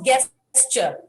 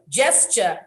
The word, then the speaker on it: gesture: okay the next word is gesture not guesster gesture not gesture the next